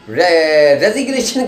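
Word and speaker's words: resignation: जरूर साइलेंट हो जाएगी लेकिन आप रेजिग्नेशन के अंदर आप क्या करेंगे जी को लेंगे आप अगर आप जी वहां साइलेंट कर जाएंगे तो आपका रेशन आप पढ़ेंगे जो कि गलत है इसलिए रेजिग्नेशन लज है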